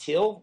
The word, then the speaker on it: Thiel: Number one, I like to say my last name is pronounced Thiel, like the color.